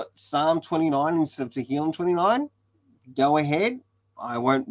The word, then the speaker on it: Tehillim: So in that, it's called Tehillim, or Tehillim 29. That translated into English is Psalm 29. So if it's easier to call it Psalm 29 instead of Tehillim 29, go ahead.